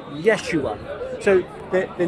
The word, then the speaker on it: Yeshua: or Aramaic in in in Hebrew yahoshua yeah now they believe that the second temple period when Jesus was alive Jesus was alive that will be pronounced Yeshua so the the name